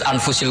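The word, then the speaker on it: أنفس: Di sini ditulis anfasil kutub. Selalu saya baca anfasil kutub. Karena maknanya kitab terbaik. Kalau kitab terbaik bacanya bukan anfus tapi apa? Anfas.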